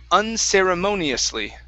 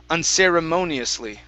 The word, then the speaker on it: unceremoniously: is this big one unceremoniously unceremoniously answers unceremoniously okay watch your tongue on the r instead of sera and sarah unceremoniously answers monsley okay one